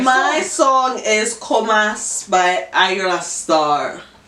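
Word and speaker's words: Ayra Starr: your My song is Comas by Ayra Star. At least you say her name right. When I was listening to it, they were Aria Star.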